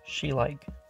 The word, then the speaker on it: Schleich: like these figurines made by schleich, pronounced schleich.